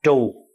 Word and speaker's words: chùa: hết nói chữ chùa chữ chùa là mình nói trại đúng ra mình phải phát âm là trù bởi vì chữ trù